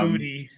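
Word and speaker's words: Boutte: What's the pronunciation guide on his name? It is Booty.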